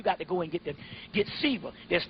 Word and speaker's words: Shiva: Shiva. Yeah, S-I-V-A, but it's pronounced Shiva.